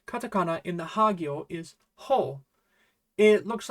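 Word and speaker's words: ホ: And the last katakana in the hagyo is ho. It looks like a cross wearing a cape to me. That's probably not helpful in any way at all, but yeah. Ho.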